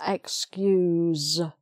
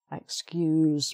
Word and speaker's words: excuse: the noun okay so you're asking somebody to excuse you please excuse me so that's the said one excuse me okay sorry um